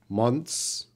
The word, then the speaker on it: months: so listen to me this is how a native speaker would say that months months we don't know it's difficult what I'm focusing on the word I want to say it naturally months so the th is reduced months months it's there